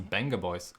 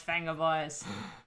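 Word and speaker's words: Vengaboys: It's pronounced Venga Boys. Oh, Is it called Venga Boys? I guess I knew that, but it's been 10 years, so kind of forgotten that. It's Venga Boys.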